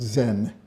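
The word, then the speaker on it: 禅: And when Buddhism moved into China, China adopted that word, pronounced it as channa, it was shortened to chan, which is pronounced Zen in Japanese.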